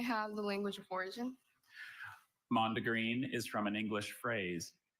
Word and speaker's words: mondegreen: Mondegreen is from an English phrase. Are there any alternate pronunciations?